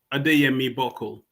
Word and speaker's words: Adeyemi-Buckle: The last name is pronounced Adeyemi-Buckle.